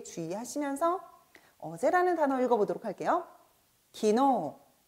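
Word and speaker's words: 昨日: 기노.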